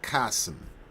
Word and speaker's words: Chasm: The omnipotent codeex pronounced like kasum.